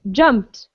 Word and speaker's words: jumped: called okay that's a tricky one all right jumped right okay perfect good okay so we're going